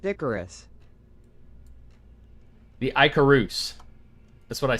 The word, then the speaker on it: Icarus: IH car is Doug. It's pronounced Icarus.